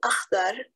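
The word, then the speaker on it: أخضر: My young daughter had mastered not only the colors, but also the throaty KH, two letters in English that equal one in Arabic.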